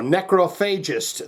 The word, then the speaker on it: Necrophagist: So Necrophagist, they're a damn fine band, and we're back to do Fermented Offal Discharge.